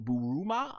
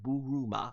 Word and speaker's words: Bulma: kind of very reminiscent of buruma uh AKA Bulma if I said it right buruma right I'm still getting these names how to pronounce it in Japanese but Bulma uh nonetheless also in the FUNimation du pronunciation um yeah I remember